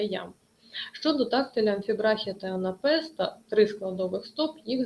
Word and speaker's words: анапест: другому складі три складова і анапест на останньому складі наголос анапест три складова